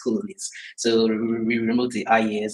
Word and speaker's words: Coloniz: So I think I would like to start with citing the fact that it's it's actually pronounced colonies but it seems like a little person keep calling it.